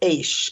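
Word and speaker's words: אש: write this down but the word ish is how you say fire fire in Hebrew the letters Aleph you'd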